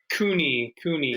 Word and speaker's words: Cooney: COONEY is the pronunciation? COONEY.